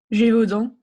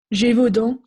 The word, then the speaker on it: Gévaudan: Okay, please pronounce that province of France for me. Gévaudan. One more time, please. Gévaudan.